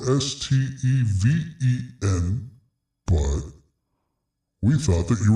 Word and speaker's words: Stephen: Yes, it's Steven and it's spelled S T E P H E N.